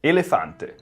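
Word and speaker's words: elefante: I don't see any reason in Spanish to read this as a P. It has to be an F.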